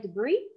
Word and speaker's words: debris: embrace we should yeah you actually don't pronounce the s it's like it's silent at so it's more like debris cool thank you clarence